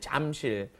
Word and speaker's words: 잠실: Notice it's not spelled Jamsil, it's Jamsil is the spelling, but the pronunciation, of course, is right in between that J and that CH, isn't it? Jamsil, right?